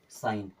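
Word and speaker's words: sign: आया मतलब ए खत्म ये क्या हो गया साइन क्या हो गया साइन क्या पढ़ते इसे साइन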